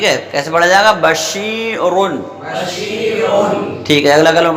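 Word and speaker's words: بَشِيرٌ: اس کی ہجے کرتے ہیں با زبر با. شین یا زیر شی. شین یا زیر شی. بشی. بشی. را دو پیش رن. را دو پیش رن. کیا ہوا؟ بشیرن. بشیرن. ٹھیک ہے.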